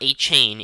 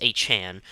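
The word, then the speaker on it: Achane: Devin Achan, which is how he has his name to pronounce. It's not A-Chain, it's Achan.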